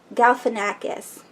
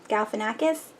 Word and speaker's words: Galifianakis: uh how do you say his name Zach Galifianakis Galifianakis he's such a weirdo I love it there